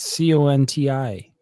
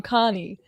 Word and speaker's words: Conti: to not pronounce it he has a t in there for a reason I didn't know that you said you said Tom conti and then you said Tom Connie well I don't know